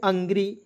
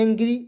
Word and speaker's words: angry: उसके बाद देखिए यहाँ पे ANGRY, तो इसे पढ़ेंगे अंग्री, इसे पढ़ेंगे एंग्री या अंग्री पढ़े सर, तो इसे एंग्री पढ़ेंगे।